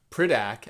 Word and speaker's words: Piraka: Um we've got the Piraka foot, Piraka as the designer of that figure uh pronounces it, fun fact.